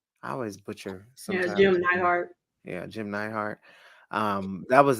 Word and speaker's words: Jim Neidhart: My goodness, like Brett, Jim Heart. Did I say it right? I always butcher Yeah, sometimes. Jim Neidhart.